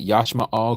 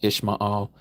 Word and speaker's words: Yashma'al: Did you know that Yashma'al, who you pronounce as Ishmael or Ishmael, Yashma'al was a follower of the creator Yahuah?